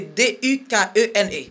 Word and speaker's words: Dukene: C'est seulement, c'est D-U-K-E-N-E. D-U-K-E-N-E, right? C'est Dukene. Ça va déranger parce que c'est pas problème.